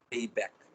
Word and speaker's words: Greibach: There are different types of pronunciation. I generally pronounce it with Grayback.